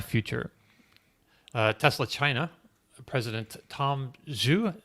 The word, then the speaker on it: Zhu: Tesla China, President Tom Zhu, Z-H-U. I'm not sure. Tom, do you know how to pronounce that? I think it's Zhu.